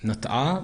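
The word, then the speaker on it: נָטְעָה: she plants a vineyard" pronounced as nat'ah, but written as natah who planted the vineyard in the field she bought?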